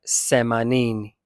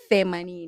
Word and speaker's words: themanini: But you can pronounce that like semanini. No, you have to say themanini. I say semanin and everyone understands me. Yeah, you are wrong. You have to say themanini. Themanini.